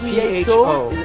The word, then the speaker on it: pho: How do you spell that? P-H-O.